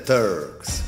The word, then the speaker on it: Turks: Salve, signor capo dei Turks! La pronuncia corretta è Turks, se non erro. E comunque la R non va pronunciata.